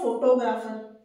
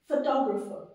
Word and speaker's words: फोटोग्राफर: इट इट इ न फोटोग्राफर फोटोग्राफर नो इट्स फोटोग्राफर फोटोग्राफर देखिए मैंने वर्ड्स के